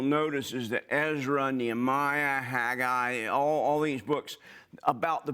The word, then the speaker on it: Haggai: to my childhood but the correct pronunciation is haggai and we'll i'll do my best to try to pronounce it correctly this is a picture